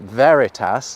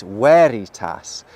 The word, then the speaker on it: veritas: Any classical Latin words that look like they have a V actually have a W sound. So, this word isn't veritas like we might think it is, it's veritas.